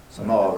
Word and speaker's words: Samoa: you say it by the way some off some all right Ronny yeah and actually you know a